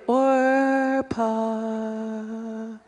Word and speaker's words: Orpa: It was really Orpa, but nobody knew how to spell it, and the P got put before the R on the birth certificate, so then it became, I guess it's Oprah.